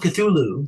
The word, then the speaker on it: Cthulhu: Call of Cthulhu, the proper pronunciation if you are a Lovecraftian person.